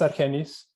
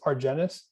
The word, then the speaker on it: Argenis: perfect so um so my name is argenius uh in school and at work uh sometimes uh people pronounce it as argenis i'm okay with that candies for our genus